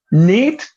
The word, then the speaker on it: neat: Neat and neat. Excellent. Excellent. So Neat and need. Yes. Need is going to be long because that's that voice sound at the end.